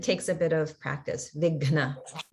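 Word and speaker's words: विघ्न: And in the word Vighna, there's a very challenging pronunciation of the Gha Maha prana because it's combined with Na. So it's definitely harder to pronounce it there and takes a bit of practice. Vighna.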